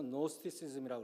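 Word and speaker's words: Gnosticism: 지식이라는 단어가 헬라어로 그노시스인데 초대교회 최대 이단이었던 영지주의가 바로 그노스티시즘, 앞에 G를 묵음으로 해서 노스티시즘이라고 그러죠.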